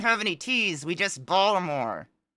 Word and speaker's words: Baltimore: any teas we just Baltimore Balmer I've heard people say Balmer even man that [ __